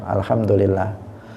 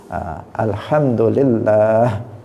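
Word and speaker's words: الحمد لله: maka akan bernilai shodaqoh Alhamdulillah panjang level jalalah nya di tengah itu panjang bukan Alhamdulillah tetapi Alhamdulillah itu cara membaca yang benar ini penting untuk kita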